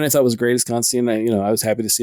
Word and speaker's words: Constantine: But the correct way is that John Constantine rhymes with wine, which is a line from a Swamp Thing issue, I believe.